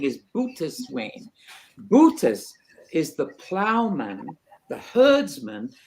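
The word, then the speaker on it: Boötes: It is pronounced boatswain. It's the same word as boatswain. So Shakespeare, as clever as he is, says, "Oh, boatswain, let's come on board." But what he's really saying is boatswain. Bootus is the plowman, the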